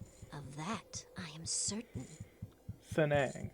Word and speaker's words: T'seng-Ang: that I am certain Sanae ah that's how you pronounce it honesty you surprised